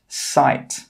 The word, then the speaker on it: site: This word is pronounced sight. We pronounce the s, we pronounce the I, and we pronounce the t, but we don't pronounce the e. The e is a silent letter.